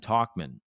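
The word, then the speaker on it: Tauchman: Scott, can we make a deal for Ian Happ and Talkman? Or is it Tackman? Sorry. I feel like it's Tauch, right? But it's pronounced Talkman.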